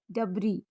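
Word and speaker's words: debris: आई एस एल आईल कुछ अन्य word में भी एस साइलेंट होता है। जैसे डी ई बी आर आई एस डबरी वी आई एस टी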